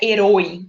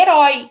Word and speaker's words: herói: Ó, herói, não é herói, é herói. Então, esse acento agudo tá aí dando a indicação de que a gente vai abrir bem essa vogal.